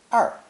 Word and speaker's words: 二: It's pronounced fourth tone, 二, 二. This is the same retroflex R sound we mentioned in lesson 1. The Mandarin R sound is like the G in prestige or the S in television, except that